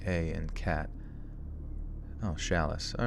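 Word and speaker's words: Challis: me it's pretty good uh oh chalice is pronounced shalice which the CH sounding like sh and shoe and the a sounding like a and cat oh shalice all right I guess it isn't sh I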